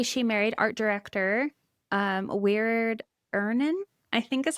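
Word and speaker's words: Wiard Ihnen: In 1940, she married art director um Weird Ern is how you say his name.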